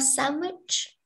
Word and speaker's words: sandwich: How about sandwich? This sound, D. Yeah, D sound is silent.